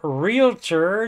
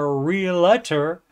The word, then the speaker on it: realtor: $65,000 per year and she's a realtor not a realter and are you with me do you think they shouldn't be allowed to do that job if they pronounce the job title wrong if they say real Ator see cuz if you look got it r e a l t o r there's no a after the L so where's the real